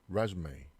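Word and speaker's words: résumé: 자, 그래서 이 단어를 일단 읽어볼게요. 자, resume, resume. 그 resume 이렇게 읽으면 이력서란 뜻인데 그냥 영어 발음처럼 resume 뭐 이런 식으로 읽으면 얘는 이제 재개하다, 속행하다라는 영어 동사가 돼요. 그러니까 발음 따라 완전 다르죠.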